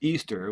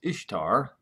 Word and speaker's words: Ishtar: but at its roots easter which is how you pronounce ishtar or ishtar is all about celebrating